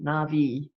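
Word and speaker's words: Na'vi: okay thanks nor he says it should be pronounced Navi right there's a sub-theme of environmentalism running throughout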